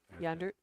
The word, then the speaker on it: Yander: say his last name yander yander kind of like Yonder dirt y Jeff shoots